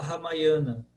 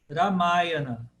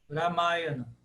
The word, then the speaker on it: Ramayana: Aqui no Brasil a gente fala Ramayana. Porque qualquer palavra que a gente leia no Brasil que a gente não sabe como pronunciar, a nossa tendência é de pronunciá-la como a penúltima, sendo tônica.